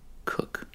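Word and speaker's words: Koch: first random article karen coke we got a karen oh excuse me right off the bat it tells me that her name is pronounced cook and she was born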